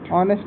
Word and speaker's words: honest: इसमें जो ये एच है, एच है, ये कैसा है? साइलेंट है। एच को नहीं पढ़ा जाता, सिर्फ इतना पढ़ा जाता है बस, ऑनेस्ट।